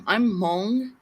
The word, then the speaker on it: Hmong: See, You see how my people are from Laos, and I'm Hmong. I don't know if you guys are familiar with that. It's spelled HMONG.